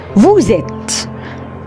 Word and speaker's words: vous êtes: فيها فيرب، والاثنين واحنا بننطقهم هيتشبكوا ببعض او هيتنطقوا بسرعه ورا بعض. فاحنا دي اسمها نو صم. Vous êtes vous êtes vous êtes.